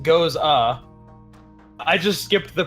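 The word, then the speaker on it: Gose: and um it says our take on the Goza pronounced goes ah I just skipped the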